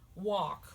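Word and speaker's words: wak: And it sounds like walk, like you're walking.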